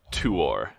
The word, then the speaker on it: Tuor: I do believe it is pronounced Huor and Tuor. What am I saying? You were going R. You're going R. It's or. Oh, okay. Tuor. Huor. Huor. Yes.